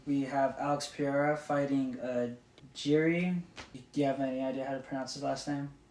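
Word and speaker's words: Jiří: We have Alex Pereira fighting Jiri. Do you have any idea how to pronounce his last name? Prochaska? Proyaska? I'll call him just Jiri. Well, it's actually Yuri.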